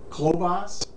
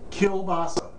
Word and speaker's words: kielbasa: I've heard people say kabasa my wife saw y used to call it no NASA or nabasa but believe me it's called It's pronounced Kil basa kill as in Kill and basa is in